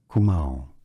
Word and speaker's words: Kumaon: Kumaon.